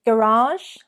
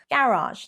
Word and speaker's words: garage: Is it garage, garage, or garage? Idge. It's the ending there that makes the big difference. Garage, garage. Technically, the French correct pronunciation, garage.